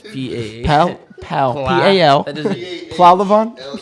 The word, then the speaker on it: Pahlevan: Pahlevan? P- P-A-H. Yeah. Oh, that's a silent H in there.